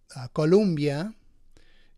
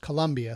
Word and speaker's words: Colombia: So, you know, Colombia is how you would pronounce that in Spanish if you were saying it that way, but in English it's pronounced Colombia, so that's why I was saying it Colombia. But it could be said either way.